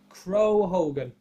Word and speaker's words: Crow Hogan: is not jack atlas crow hogan that's how it's pronounced and this is his